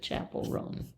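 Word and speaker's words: Chappell Roan: Are you familiar with I think they pronounce it Chapel Roan.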